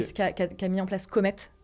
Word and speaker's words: Comet: Mais qui a mis en place Comet comme ça se prononce, okay. Et du coup ET à la fin.